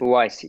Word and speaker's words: Uwais: Uwais.